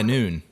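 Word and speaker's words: Nuun: I do use the I pronounce it nun T yeah noon noon yeah I just wondered I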